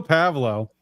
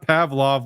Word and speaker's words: Pavlo: So Joe Pavlo, that's how it's pronounced, not Pavlov like the like the scientist for some reason.